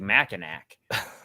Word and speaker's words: Mackinac: See, it sounds like, if you enunciate it, it sounds like Mackinac. Right. That's a great point. Are you sure this you're is why we brought pronouncing you on it the right?